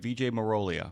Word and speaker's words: Vijay Marolia: Um tell me um like I said and I I I was given a pronunciation guide, but I want to make sure I get this right. VJ Moria, right?